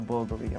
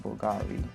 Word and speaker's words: Bulgari: glad you noticed that it's a bulgary yes that is a correct pronunciation that Bulgari only a thousand of